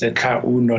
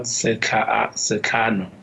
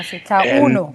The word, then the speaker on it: Setlauno: Firstly, let me pronounce my surname correctly. It's Setlauno, not Setlano. Oh, Setlauno, got you.